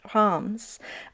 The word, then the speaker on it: Reims: and one of the biggest cities there called RS or in French it's pronounced as HS um it's uh famous for its glorious Cathedral